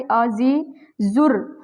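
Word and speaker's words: عزیز الرحمٰن: अ जी जुर्र। अब ये देखिए ये वाला जो ज है यहां र के साथ मिल रहा है। यानी कि अलिफ और लाम साइलेंट है।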